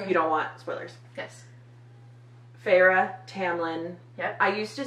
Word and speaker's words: Feyre: Because Feyre.